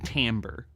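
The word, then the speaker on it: timbre: but it's way different what we call tamber a word spelled like Timber and not even like that the R and E are reversed French weird word anywh who that's one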